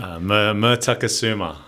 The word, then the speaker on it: Mertakusuma: And I think today I just want to start by pronouncing your last name. How do I actually say your last name properly? Mertakasuma. Mertakasuma.